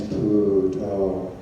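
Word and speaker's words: Buddho: In pronouncing Thai, the name is Pu To, and the first method is simply to say 1 syllable per step.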